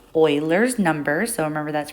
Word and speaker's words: Euler: last lesson we mentioned that it was called euler's number so remember that's pronounced euler not euler um and sometimes it's also called